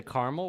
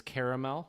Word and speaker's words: caramel: We say caramel with 2 syllables. However, once you get more into Kentucky and further south, it's caramel with 3 syllables.